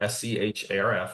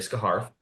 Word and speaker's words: Scharf: So it's spelled Scharf. I know I'm making everyone pronounce it, and they're going to say Scarf.